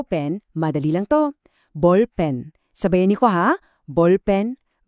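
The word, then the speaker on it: 볼펜: Bolpen.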